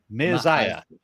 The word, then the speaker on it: Maaziah: Maaziah. Maaziah. Okay. So spelled M-A space Maaziah. Z-I-A-H. Yeah, Okay. that's the thing. When you have names with like a double A or an EA, they're pronounced separate.